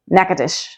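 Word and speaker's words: Natchitoches: that messed me up the correct way to say it is neades yep you heard that right there's no Gat or natch in that when I first moved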